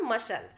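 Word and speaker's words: muscle: Accent, fascinate और मसल, इस तरीके से हमने केवल एस को बोला है, सी को नहीं बोला है, तो सी यहाँ साइलेंट है।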